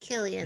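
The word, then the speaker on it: Cillian: Killian. Killian. Wow. Okay. The Irish pronunciation.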